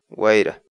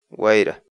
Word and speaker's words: wayra: de vídeos en la que te enseñamos a pronunciar algunas palabras en quechua así que nuestra palabra del día por hoy es wayra wayra guaira la palabra quechua era en español significa